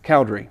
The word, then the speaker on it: Cowdery: Cowdery.